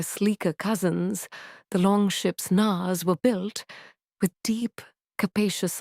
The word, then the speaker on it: knarr: The Nar, pronounced Kanar, was the unsung hero of the Viking age.